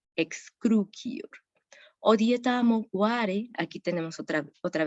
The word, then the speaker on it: excrucior: La pronunciaríamos como una ki, excrucior.